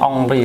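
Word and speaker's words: Henry: Teri onri bacanya Ongri ya. Ongri.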